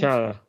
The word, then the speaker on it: T'Challa: T'Challa? Is that right, James? T'Challa.